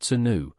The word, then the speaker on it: swnw: They were actively prescribed by ancient physicians or SWNW pronounced senu for their perceived healing qualities.